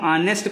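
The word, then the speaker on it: honest: एच हम जानते हैं कि कॉन्सोनेंट है, लेकिन जब हम ऑनेस्ट को पढ़ते हैं तो हमारा जो उच्चारण होता है वो किससे होता है? आ से होता है।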